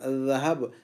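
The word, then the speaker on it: ذهب: ذہب نہیں کہنا ہے اس کو ذہب نہیں کہنا ہے. ذہب کہہ دیں گے تو زا کی آواز نکلے گی. تو یہ زا نہیں ہے بلکہ ذال ہے ذال.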